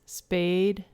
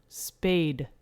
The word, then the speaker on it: spay: to have your pets spayed and neutered yeah and so with a male dog it's neutering with a female dog we spay them we don't spade them right yeah so it's just s-p-a-y and that is a